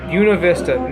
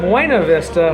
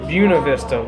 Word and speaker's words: Buena Vista: So I hiked on down to Buena Vista, not Buena Vista like it's spelled, but Buena Vista. You know, you got a little accent around here.